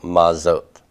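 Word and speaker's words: מה זאת: So, it isn't that hard, I suppose, to put a dagesh forte in the next word and to vocalize this as a closed syllable. Maz. Okay, so if I had to give you some kind of a transliteration here, it would be something like that. So, mazot. Mazot.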